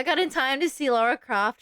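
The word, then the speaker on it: Lara Croft: I got in time to see Laura Croft. Shoot Laura Craft Croft. There we go. I said it right the first time.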